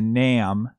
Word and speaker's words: 'Nam: And actually, in the Johnny Cash version of the song, he says, "Jimmy went to Nam," or Vietnam, which is an alternate pronunciation of Vietnam.